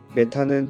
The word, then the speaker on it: 메탄: 메테인은 상온, 대기압에서 기체인 무색무취의 알케인으로 메탄은 독일식 발음을, 메테인은 영어 발음을 한글 표기한 것입니다.